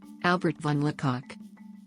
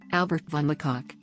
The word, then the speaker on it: Albert von Le Coq: Albert von Lacock Albert von Lacock German pronunciation September 8th 1860 Berlin Prussia